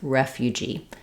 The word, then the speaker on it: refugee: It helps to think of the F being in that first syllable, ref. We also have a word referee, which we will refer to a referee as a ref. So thinking of that can help you. Refugee. Then we also have a clear E vowel for the letters EE, and letter G says the J sound. So I've rewritten that for you here with a J, just like in job or judge.